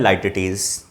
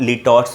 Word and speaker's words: litotes: देखेंगे जिसका नाम है लाइटिटीज़। आप इसको लिटॉट्स भी पढ़ सकते हैं क्योंकि इसका दोनों ही प्रोनाउंसिएशन होता है, लिटॉट्स भी और लाइटिटीज़ भी।